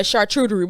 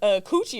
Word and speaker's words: charcuterie: And a charcuterie board. Is that how you say it? How you say it? Charcuterie. How do you say it? Charcuterie. No, you said something about coochie.